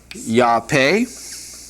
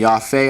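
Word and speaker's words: יפה: All right, we have the word beautiful, which is yape. Excuse me. Yaf. I keep wanting to make that a P and it's an if.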